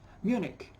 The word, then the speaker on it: Munich: Yokohama and Zurich Zurich like many places or many names proper names that finish with ch they are pronounced with a cut us in architect yes Zurich buck Johann Sebastian